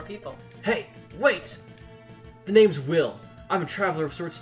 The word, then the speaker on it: Will: Will, with one L. Well, that would be pronounced Wheel in Japanese, but it might be, but yeah.